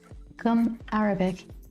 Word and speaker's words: gum arabic: Like that, saying it with the accent on the first day, right? Gum Arabic is the base to make watercolors.